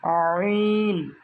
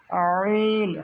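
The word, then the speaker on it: ع: এই হরফ দুটো উচ্চারণ করার সময় পেটও শক্ত হয়ে যাবে, তাহলে সঠিক উচ্চারণটা বের হবে। চাপ দিয়ে গলায় টিপে ধরলে যেরকম শব্দ হয়, যে আমরা শব্দ করতে চাই কিন্তু বের হচ্ছে না, ঠিক ওইভাবে চেপে উচ্চারণ করতে হবে।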